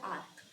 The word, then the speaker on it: arch: Okay, इसका pronunciation बोलते हैं आर्क।